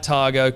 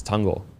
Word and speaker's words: Tango: and the guys like targo come in and just you don't skip a beat oh that's i said it wrong before it's tango tango yeah tango jungle sorry